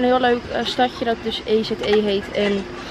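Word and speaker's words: Èze: lekker opstap naar een plaatje dat heet hoe spreek je dat uit e e Het is eze Laura had het op eh gevonden dus daar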